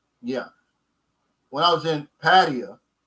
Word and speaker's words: Pattaya: when I was in patio which is they said that's how to pronounce it not Pattaya like I was saying the guy showed me